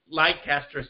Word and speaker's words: Leicester: I think it was karma for him pronouncing it Leicester City instead of Leicester City.